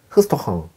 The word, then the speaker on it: restaurant: 레스토랑이고요. 흐스토흥 이렇게 읽습니다.